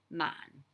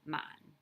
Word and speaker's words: 萬: course the ten thousand which is the same pronunciation mon just the low tone mon okay so um and